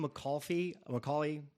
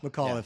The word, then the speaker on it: McAuliffe: But if I'm Macaulay, say his name again. McAuliffe, thank you.